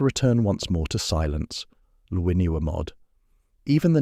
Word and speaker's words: Llwynywermod: Luinuamod. Even the name carries the weight of Welsh history, pronounced with that distinctive doublel sound that marks it as authentically Celtic.